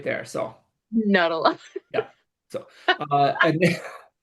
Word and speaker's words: Nutella: And he'd always say Nuttala instead of Nutella.